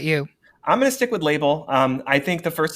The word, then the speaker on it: Label: and i'm going with label for two reasons number one i like the idea that maybe her name is pronounced labelle so i'm giving like